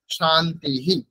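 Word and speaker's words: শান্তিঃ: তাহলে বিসর্গের উচ্চারণ শান্তিহি বিসর্গের উচ্চারণ করার নিয়ম হচ্ছে আগের যে স্বরবর্ণটি আছে যেমন ত হস্ দন্ত ন ত তারপরে হস্ তাহলে হ্রস্ব ইকার আছে তাহলে হ্রস্ব ইকারের পরে বিসর্গ আছে সেই জন্য বিসর্গের উচ্চারণ সাধারণত হকারের মত হয়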